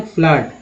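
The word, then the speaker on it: flood: अब double O वाला देखिए तो double F L double O डी में डबल ओ क्या पढ़ा गया है तो आ पढ़ा गया उच्चारण है फ्लड।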